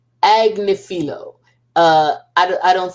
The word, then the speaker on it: Agnifilo: I don't know if I think Mr anilo or anilo but how now I'm screwing up this darn name how do you say that again I had it together I really did agnifilo uh I don't I